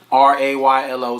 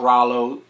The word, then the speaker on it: Raylo: Raylo, spell it right. Don't be like Boosie. It's not Rollo.